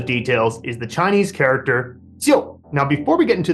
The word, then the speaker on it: 就: But we also have a pronunciation here, jiu. Now, the two elements of this pinyin pronunciation are Ji and OU. Now, you'll notice that in pinyin, they don't spell out the O there, but this is pronounced jiu, right?